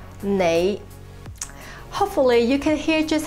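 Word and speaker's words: 你: mandarin would be whereas in cantonese the same word is pronounced as nay hopefully you can hear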